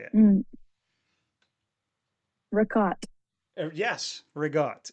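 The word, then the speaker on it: ricotta: Regott. So, you cut it off at the end. There's no A. You put a G in there for whatever reason. And that's what you say.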